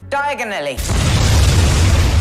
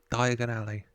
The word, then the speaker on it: Diagon Alley: to speak very clearly diagonally what did he say dear diagonally thank you oh he said it wrong diagonally Diagon Alley Diagon Alley you're got